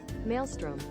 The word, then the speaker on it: maelstrom: Pronunciation. Okay. Maelstrom.